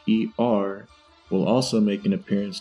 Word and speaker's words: H.E.R.: 27 1997 better known professionally as her pronounced her an acronym for having everything revealed so that's what we're